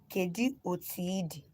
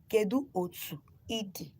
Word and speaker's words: Kedu otu idi: If somebody wants to ask you how are you in our dialects, the person will say Kedu Otiidi. Kedu Otiidi. Kedu Otu Idi. So let me spell it again for those that are coming live now.